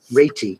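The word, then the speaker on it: Réti: got several books by retti reity cause i think we should be pronouncing that i don't say it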